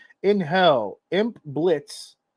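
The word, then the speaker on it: Blitzø: In Hell, Imp Blitz, the O is silent, runs an assassin business targeting the world of the living.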